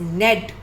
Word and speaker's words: knead: इसमें के भी साइलेंट है. कुछ वर्ड्स में लेटर्स साइलेंट होते हैं, वी रीड them like this only. The word is नेड.